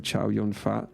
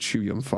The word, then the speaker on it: Chow Yun-fat: John Woo movies with what most people call him Chow Yun-Fat, but I think it's pronounced Chu Yun-Fa or something.